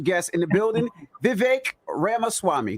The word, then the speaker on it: Ramaswamy: in the building Vivek Rama Swami did I say it right that's actually pretty good it's better than most yeah it's like Rama Swami like CD-ROM but yeah what I